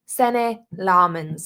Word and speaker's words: Sene Lammens: Sene Lammens I keep saying this poor man's name wrong, Sene Lammens, as he said it on his little video.